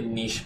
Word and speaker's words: niche: say that niche is correct. Yeah. Because it's a French word, so why wouldn't you pronounce it the French way?